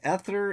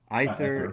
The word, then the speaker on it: Aether: But the story is narrative RPG Ether and Iron launches on March 31 for PC. So there you go. Seismic Squirrel. It's Aether. Aether.